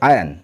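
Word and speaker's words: iron: এটার উচ্চারণ হবে আয়রন নয়। এটা হবে আয়ন। এখানে সাইলেন্ট থাকে।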